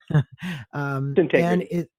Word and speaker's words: Syntegrity: I always want to not pronounce that right. Syntegrity.